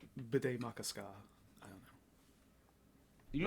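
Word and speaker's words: Bde Maka Ska: So it became Bidet Makaska, which I always remember because it sounds like bidet and has ska in it.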